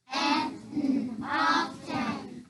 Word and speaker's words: often: Often. So we say often to spell it, but when we're talking, what do we say?